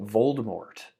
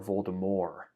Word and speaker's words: Voldemort: the first book, that Voldemort, or Voldemort, apparently, because I guess you can retroactively change how people pronounce the name. But I still say Voldemort.